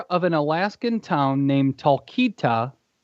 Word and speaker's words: Talkeetna: The mayor of an Alaskan town named Talkeetna. Spell it out because we want to make sure you're saying it right. Talkeetna. Spell it.